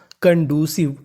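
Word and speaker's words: conducive: सी वी ई व क्योंकि आखिरी में ई लिखा है तो इसका उच्चारण नहीं करना तो मीनिंग बनी कंडू सिव कंड्यूस कंड्यूस कंड्यूस का मतलब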